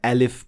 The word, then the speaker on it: alif: as a med letter when pronouncing alif in Arabic the only thing you should be paying attention to is the opening of your mouth it should not be too wide open and at the same time it shouldn't be